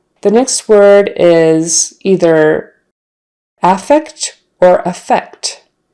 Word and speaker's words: affect: look at that but the noun is with the stress on the first syllable affect contrast that with effect